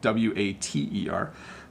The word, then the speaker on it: water: Water is spelt wrong, W-A-T-E-R. Butter, water, better, and focus on the T sound. So butter, butter, water, better. Okay, so you hear that? It's like a D.